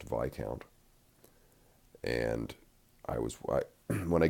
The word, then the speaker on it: Viscount: the road in the town I was calling Viscount but was corrected it's pronounced VI count and I was when I get to these